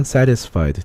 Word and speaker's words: satisfied: 재능 있는 talented, 다음에 슬픈 sad, 화가 난 angry, 피곤한 tired, 배고픈 hungry, 만족한 satisfied, 빨리 발음하면 satisfied, T 발음이 D 또는 R 사운드로 바뀝니다.